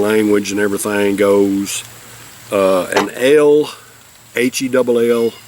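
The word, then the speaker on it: hell: and everything goes, an L, H-E-double-L, L is what they call it. I believe is what the way it's pronounced in German is pronounced L. H-E-double-L is pronounced L, and that's basically a lighter colored beer.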